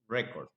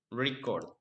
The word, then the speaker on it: record: When record is used as a noun, the stress is on the first syllable, record. But when we use the word record as a verb, the stress is on the second syllable, record.